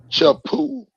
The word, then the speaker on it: Chapoo: got my other host chapoo what's up everybody and say it right say it right choo right poo good evening Vanessa